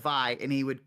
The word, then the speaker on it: Vi: So anyway, I would say V instead of Vi, and this kid Endo would correct me.